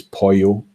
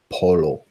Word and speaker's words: Polo: Now, I know that those Spanish speakers out there would be tempted to pronounce B as Pollo, but I guarantee that in this context this evening, we would be pronouncing it Polo.